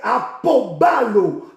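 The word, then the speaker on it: ἀποβάλλω: Le verbe abandonner ici, c'est la traduction du mot grec apobalo. Apobalo. Apobalo s'écrit A-P-O-B-A-L-L-O.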